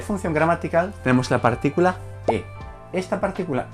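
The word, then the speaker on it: へ: Bien, y como última partícula de función gramatical tenemos la partícula e. Esta partícula e, aunque se escribe con el carácter de hiragana de he, se lee e.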